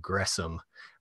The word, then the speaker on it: Gresham: his name those they're two different syllables so gressom uh is how to pronounce that and then of course